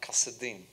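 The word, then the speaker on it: כשדים: To this day, in the modern Hebrew language, Chaldean is pronounced Kasadim.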